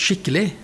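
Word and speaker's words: skikkele: have the word s-k-i-k-k-e-l-e which is uh it's pronounced shitley maybe you know what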